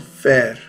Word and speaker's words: vair: a kind of fur called fer. Fer. Note how that sounds like fur.